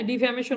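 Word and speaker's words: defamation: ডিফ্যামেশন হচ্ছে মানহানি হ্যা ডিফ্যামেশন উচ্চারণটা হল ডিফ্যামেশন এরপরে আসেন যাদের ইংরেজি পড়তে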